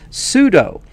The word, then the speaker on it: sudo: And most people say sudo. So S-U-D-O. I say sudo just because it's more like how it is spelled, but super user do. So people call it sudo. So I'm going to say sudo.